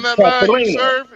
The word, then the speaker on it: Katerina: It's all good because I tell you, it's the one that got away with me, Katerina. That's how you say her name, Katerina.